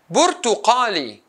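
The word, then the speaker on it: برتقالي: Bur. Tu-ka-li, Burtuqali, four syllables.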